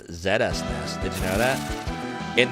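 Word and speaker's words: ZSNES: on field lead zest. You know that's not how you actually pronounce it. It's pronounced Zestnes.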